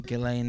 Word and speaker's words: Ghislaine: Ghislaine Maxwell.